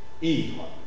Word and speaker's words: ivre: Ivre. D'accord? Cire. Analyse. Tige. Yves. Ivre. D'accord? Dans ce cas, prononciation légèrement allongée dans une position tonique et devant les consonnes R, Z, V, R.